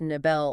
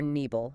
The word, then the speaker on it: נבל: So today, our mission for this deep dive is to unpack a single ancient Hebrew root word, NBL. Pronounced nabel or nebel, depending on the form, yeah.